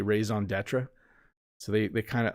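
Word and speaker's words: raison d'être: say things like my raison d'etre is and people don't pronounce it the way i do they say raison d'etre so they they kind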